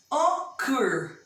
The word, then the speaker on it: occur: Occur. A última sílaba é forte, não é? É oxítono.